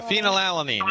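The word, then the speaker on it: phenylalanine: the lifestyle therapy and the um and the phenoline. Did I pronounce that? Yeah, phenol alanine.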